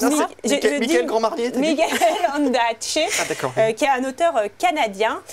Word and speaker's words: Ondaatje: Alors comment ça se prononce? Michael Grand-Marnier. Michael Ondaatje, qui est un auteur canadien.